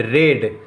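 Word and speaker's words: read: Whitey had रेड, guys ये रीड की third form है, स्पेलिंग सेम रहती है लेकिन उच्चारण अलग अलग होता है।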